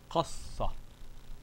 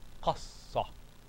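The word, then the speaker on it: قصّ: So this is qas and then sa. Qassa. Qassa. See?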